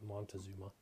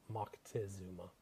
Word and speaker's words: Moctezuma: guy by the name of Moctezuma or mod Montezuma as they say here in the States but it's Moctezuma is the appropriate pronunciation so this is a reading from the